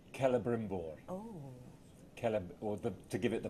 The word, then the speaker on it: Celebrimbor: Celebrimbor. Oh. To give it the proper full pronunciation, Celebrimbor.